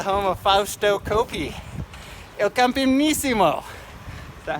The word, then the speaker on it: Campionissimo: Il Campionissimo.